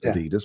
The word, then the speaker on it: Adidas: And I get there and it says, I'm like, oh, Adidas. He goes, no, it's pronounced Adidas.